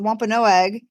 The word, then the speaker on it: Wampanoag: Can't pronounce it. Thank you, the Wampanoag.